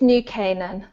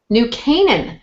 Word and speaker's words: New Canaan: Now, did I pronounce the name of your town right? It's New Canaan. New Canaan. Okay, yes. New Canaan.